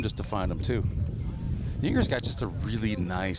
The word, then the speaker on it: Yinger: You know, I've heard some pronounce it Junger. Is it Junger? Nope. Jewinger. Jewinger? That's how Joe says it. It's neither. Joe has some relatives that are Jewingers. Oh, really? It's Yinger. It's Yinger. Correct pronunciation is Yinger.